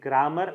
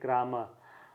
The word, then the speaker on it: grammar: And if I say grammar, that is wrong, I should pronounce it like grammar.